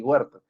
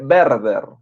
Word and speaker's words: Werther: ya no Werther, sino, se escribe así, sí, Werther, pero se lee Werther, ya la W va a sonar como una V en el alemán, Werther.